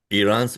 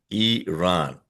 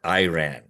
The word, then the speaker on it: Iran: He says Iran's military has been devastated. Uh by the way, folks, it is pronounced as Iran, not Iran.